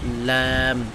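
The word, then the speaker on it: لام: জিহ্বার আগা আর কি, জিহ্বার আগার কিরানা সামনের উপরে দাঁতের মাড়ির সঙ্গে লাগে, ল্যা ল্যা ল্যা ল্যাম ল্যাম, ঠিক আছে। উচ্চারণটা খেয়াল করেন, ল্যাম দাঁতের মাড়ির সাথে ল্যাম।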